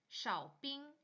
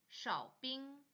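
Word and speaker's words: 少冰: 원더 원더 얼음 빼기 치빙 치빙 얼음 적게 샤빙 샤빙 얼음 많이 어빙 어빙 이렇게 표현하시면 됩니다 이번에는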